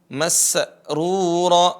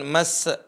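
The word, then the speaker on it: مسرورا: perhatikan di sini yang yang terjadi kesalahan banyak ya ketika Sin sukun Sin sukun ya seringkiali dibaca dengan Qalqalah Masrur bukan mas bukan mas tapi Masrur ya suaranya dialirkan Masrur bukan mas ya perhatikan lagi saya membacanya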